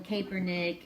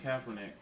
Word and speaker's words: Kaepernick: Colin Kaepernick. Huh? He said Kaepernick. Yes, and how do you pronounce it? Colin Kaepernick. So I used a long A instead of a short A.